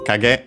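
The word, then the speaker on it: 影: First and foremost, we have this noun, a compound noun, kage, simply from kage, which on its own means shadow, and on its own is actually accented on the first syllable, kage.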